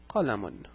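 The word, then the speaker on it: قَلَمٌ: This word is pronounced qalamun. So it's qa la, and it's pronounced as if there is a noon at the end. So it's pronounced as if it's qa la and mun. So notice what happens.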